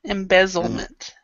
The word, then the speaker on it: embezzlement: Embezzlement. It's embezzlement. Did I pronounce this rightly? No, you're not saying the Z's. So embezzlement. Embezzlement. Yeah, you're not pronouncing the Z because you're trying to say the L.